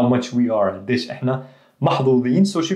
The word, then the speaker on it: محظوظ: the محظوظ you would hear ز محظوظ okay محظوظين تمام but she pronounced it محظوظ proper ولازم أقول لك قديش إحنا But the لازم أقول لك was عامية so there's that hybrid.